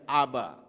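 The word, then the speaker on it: אב: Alef, bet, Alef, ini bacanya Aba.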